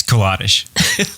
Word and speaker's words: Koladish: It's Koladish. That's right. Not Koladish.